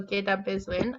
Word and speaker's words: Gidabizwin: So yeah, like the W, like so the stems are just used to help with the flow of the word. Sometimes you'll hear the W not even pronounced. So Gidabizwin.